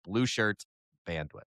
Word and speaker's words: Blueshirt Bandwidth: But yes, there is no possessive S in the name of this podcast. It is Blue Shirt Bandwidth.